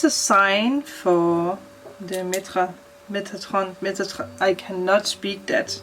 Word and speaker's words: Metatron: know metatron metatron metatron okay so google says metatron so that's what i say so arch angel